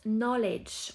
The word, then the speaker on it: knowledge: La connaissance knowledge, on ne prononce pas le cas au début.